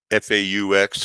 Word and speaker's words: faux: You know how that word fake, F-A-U-X, faux, it's pronounced faux Jew.